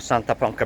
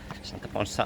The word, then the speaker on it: Santa Ponsa: So far it's been 5.3 kilometers from my hotel to Santa Ponca Beach, Ponsa. Santa Ponsa, I think is the pronunciation.